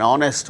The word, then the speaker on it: honest: For instance words beginning with a silent H in the words hour, an honor, an honest man, an heir, an honorable man. In all these cases, these words begin with H, which is a consonant